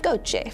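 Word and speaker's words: GOCE: field and steady-state ocean circulation Explorer pronounced Gocha for short because the European Space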